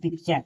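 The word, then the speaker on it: picture: पी आई सी टी यू आर ई पिक्चर। इस प्रकार टी को च का उच्चारण कहते हैं।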